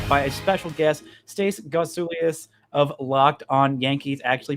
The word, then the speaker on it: Gotsulias: danger i'm joined by a special guest stace gosulius of locked on yankees actually pronounced your name right this time i've been